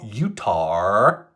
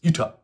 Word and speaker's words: Utah: other states and think it's not utar even though I prefer to say it that way it's Utah okay don't worry I